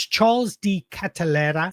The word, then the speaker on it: Charles De Ketelaere: He's 24 at the moment, and that's Charles D. Catalera. And I know that's how you pronounce it because I went on Google Translate